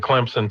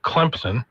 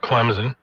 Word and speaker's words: Clemson: They'll be at that other Death Valley, the fake Death Valley as they take on the Clemson Tigers. Got to say it right. Clemson. Not Clemson. Clemson.